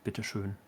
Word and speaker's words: Bitte schön: The Ö is elongated on the bitteschön.